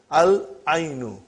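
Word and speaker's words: العين: Al-ainu. The eye. We pronounce lam.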